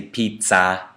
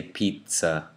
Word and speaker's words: pizza: So we don't say pizza, we say pizza.